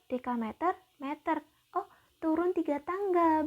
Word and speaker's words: dekameter: sama dengan berapa dekameter bedakan kalau DM itu desimeter kalau Damai itu bacanya dekameter ya Nah ini kan ketiga-tiganya